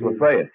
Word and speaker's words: Lafayette: It's Lafayette.